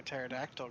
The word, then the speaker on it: pterodactyl: can't you hear a pterodactyl go to the bathroom because the P is silent that's pretty good okay